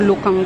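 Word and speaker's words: 鹿港: Pero Lukang daw talaga pronunciation na.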